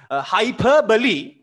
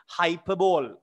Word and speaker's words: hyperbole: I bet you some kids might have thought it's pronounced hyperball. Some teachers, they say hyperball, but not really. Hyperbole is the right pronunciation.